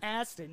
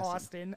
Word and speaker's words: Astin: wouldn't that be great sean astin not austin i was way off